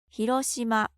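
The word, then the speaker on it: 広島: you already know, but let's get the Japanese pronunciation. 広島 Most cities in Japan have a food that is well known and associated with the city.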